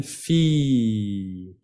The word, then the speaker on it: fille: Olvidan la doble L y la E. Se pronuncia como si fuera una I larga. Une fille.